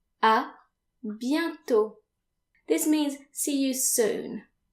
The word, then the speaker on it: à bientôt: If you plan on seeing that person again, you can say à bientôt. À bientôt. This means see you soon. À bientôt. And again notice that the final T is silent.